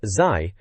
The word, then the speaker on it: ZY: Wheel of Fortune 64 is mentioned because reviewer ZY, pronounced Zai, apparently threatened to kick its face off if it ever got a PAL release.